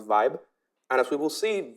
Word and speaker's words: VIBE: So our new metric is called voting block entropy, which we pronounce VIBE.